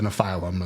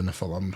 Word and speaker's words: Nephilim: is Genesis talks about the Nephilm or the Nephilim, however you want to pronounce it and they're very extensively talked in the book of Enoch.